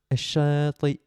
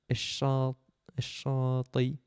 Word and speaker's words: الشاطئ: Il est pas simple à dire celui-là. الشاطئ. الشاطئ. الشاطئ. Ouais, c'est dur à dire. Il y a une hamza à la fin, c'est pas facile.